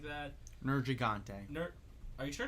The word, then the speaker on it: Nergigante: Well, when I hear Matthew Mercer say, "Watch out for the Nergigante," I'm like, oh, that's how you say it.